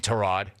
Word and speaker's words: Tyrod: turnovers grab a clipboard enjoy watching tarot like tarad and yes that is how you pronounce his name tarad tarad's a good leader